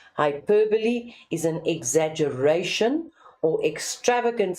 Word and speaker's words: hyperbole: Hyperbole, we refer to that. Hyper, extra, right? Hyperbole is an exaggeration or extravagant statement used for effect. Now, I know some people pronounce it as hyperbole.